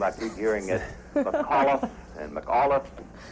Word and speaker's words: McAuliffe: keep hearing it and mcauliffe how do you pronounce it with a heavy c or a it's mccall with an iaf on the end so it's mcauliffe when my husband was